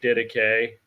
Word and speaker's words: Didache: It's like died ache. You know, you can type it in or whatever, post a link to it, John. But it's Greek, Didache.